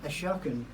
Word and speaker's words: Ashokan: It pronounces Ashokan or Ashokan. It all depends which way you want to pronounce it.